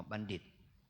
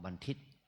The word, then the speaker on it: บัณฑิต: อย่าง เนี้ย ศึกษาศาสตร์ บัณฑิต ออก บัณฑิต นะ ไม่ ใช่ ออก บรรทิศ นะ ออก ภาษา ไทย ก็ บาง ศัพท์ ออก เสียง ออก เป็น ดะ เหมือน กัน ดิ บัณฑิต ไม่ ใช่ บรรทิ แต่ บาง ศัพท์ เป็น